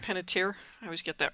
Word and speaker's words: Panettiere: Hayden Panettiere. Panettiere.